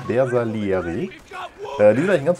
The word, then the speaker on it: Bersaglieri: Das G spricht man hier, hat jemand geschrieben, ne? Bersaglieri wahrscheinlich, ne? Bersaglieri.